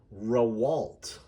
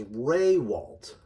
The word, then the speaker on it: Rawalt: The real way we say it is Raywalt. The emphasis is on the first syllable, not the second.